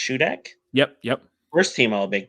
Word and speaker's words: Shudak: Is it pronounced Shudak?